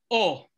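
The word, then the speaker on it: eau: Pues sí, así como lo escuchan, oh. Qué raro, mister, parece oui. Una O. Entonces vamos a escribir O con agua. Pero en realidad se escribe con tres vocales, E, A, U, pero se pronuncia O.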